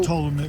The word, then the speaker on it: Ptolemy: Ptolemy. Yeah, but Ptolemy, it's like Ptolemy. That's niggas say pronounce the P.